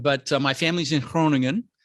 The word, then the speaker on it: Groningen: uh my family's in cronin the g is like it's hard to pronounce groningen uh but uh no